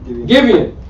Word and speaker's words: Gibeon: And the king went unto, how do you pronounce that, bro? Gibeon.